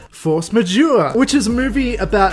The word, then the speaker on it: force majeure: believe French movie called I believe you say it like force majeure which is a movie